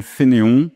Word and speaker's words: Fénéon: Je m'appelle Fénéon avec des accents sur lieu, ça aide un peu à prononcer mon nom.